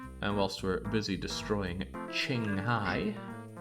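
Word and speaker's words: Qinghai: what a horrible existence to these people Chinese Q is pronounced like chess so it's Ching Hai but then why would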